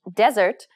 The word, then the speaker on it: desert: know why that was it's because of stress in desert the first syllable is stressed whereas dessert the second